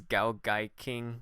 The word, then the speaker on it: GaoGaiKing: I'm your host JD Carr, and today my guest is GaoGaiKing.